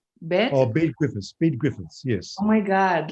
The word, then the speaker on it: Bede Griffiths: And his name is I don't think if I don't know his first name if I pronounce it right. Bede Griffith. Bede Griffiths, yes.